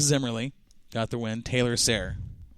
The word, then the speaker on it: Sayre: Taylor Sayre. You familiar with the last name Sayre? Last name is Sarah.